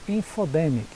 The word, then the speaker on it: infodemic: feio para a gente a pronúncia infodema info the mic né nem bem estranha